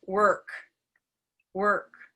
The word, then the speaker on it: work: so it's and now we're in the right place for work work and there's no movement right er work i can move for the w part of it work but if i couldn't move at all i could still say this word work work right so that's